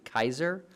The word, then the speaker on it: Caesar: were pronounced for example we say Caesar today when it's actually Kaiser so we just go